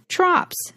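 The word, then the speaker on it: trope: word for this is trops. You can look up the word trops, which is spelled t r o p e s, and it's pronounced trop. The o is long.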